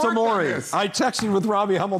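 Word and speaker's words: Omoruyi: them last night apparently he changed the pronunciation again i worked on amory now it's a maury i texted with robbie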